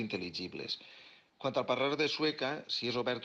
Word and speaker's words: Sueca: pregunta de per què Sueca té un parlar obert, podem dir que Sueca destaca per haver mantingut millor que en altres pobles la pronúncia típica de la A final, això que diuen sueca, cosa que també passa